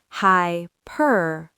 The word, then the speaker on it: hyperbole: Again, with the stress on the second syllable. Hyperbole.